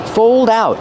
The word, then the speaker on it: fold out: Fold out. Use the long O like old and cold plus a dark L.